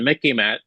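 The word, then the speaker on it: MICIMATT: for knowing about the Mickey matat the military industrial Congressional intelligence media Academia Think Tank complex okay sort of rhymes with Mickey Mouse remember it Mickey mous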